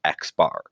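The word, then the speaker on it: x̄: X with a line on top which is pronounced X bar so this means mean the arithmetic average and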